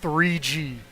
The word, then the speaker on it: GGG: Officially, that is pronounced 3G.